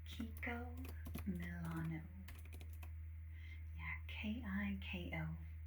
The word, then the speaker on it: Kiko Milano: K I K O Kiko. And then Milano like those delicious cookies.